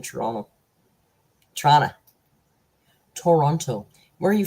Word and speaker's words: Toronto: a true Canadian when you didn't pronounce the last T in Toronto toron Toronto where are